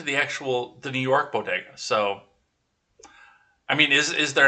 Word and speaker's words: bodegas: you guys do ah the first lady appeared to misspeak pronouncing bodegas now it sounds like well hey modigas it sounded more like it was boguta b-o-g-i-d-a ah bodegas are popular corner stores